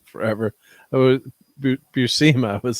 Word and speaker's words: Buscema: a guy I worked with a lot, John Buscema, man, I just love him. Yep, and I was in the chat, I've been saying his name wrong forever. Buscema, I was saying, so it's Buscema.